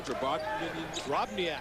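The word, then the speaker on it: Drobnjak: Drobniak.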